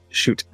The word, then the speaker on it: chute: Is it shoot or chute? shoot. Shoot. Yeah. Like Yep. kicking a ball. As though it was spelled with an S and an H that it isn't.